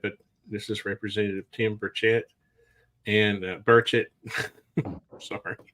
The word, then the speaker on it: Burchett: this is Representative Tim Burchett and Burchett. Sorry. It's all right, brother. Nobody You know, gets it you know, right. you know how we Tennesseans are. We like to draw out syllables, Burchett.